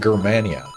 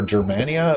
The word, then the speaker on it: Germania: Sorry, to follow up on this, you pronounced it Germania, right? I did. Why that choice over Germania? Is that original? Yeah. So in Latin, the G would be a hard sound.